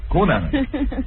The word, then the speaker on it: Cunanan: It is pronounced Cunanan.